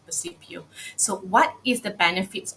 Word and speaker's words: Percipio: Some people will just mention it Percipio, but how to pronounce it is Percipio.